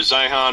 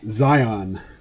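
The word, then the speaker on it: Zeihan: conversation all right so I I pronounced you know pz's name that way in a few videos and uh some of his dedicated fans schooled me it's Zion Oh I'm just reading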